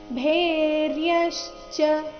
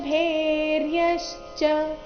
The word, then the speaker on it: ಭೇರ್ಯಶ್ಚ: ಶ ದಿಂದ ಶುರುವಾಗ್ತಾ ಇದೆ ಭೇರ್ಯಶ್ಚ ಇಲ್ಲಿ ಭೇ ಮಹಾಪ್ರಾಣ ದೀರ್ಘ ಚೆನ್ನಾಗಿ ಬರಬೇಕು ತತ ಶಂಖಾಶ್ಚ ಭೇರ್ಯಶ್ಚ ಪಣವಾನಕ ಗೋಮುಖಾಹ ಇಲ್ಲಿ ಕೊನೆಗೆ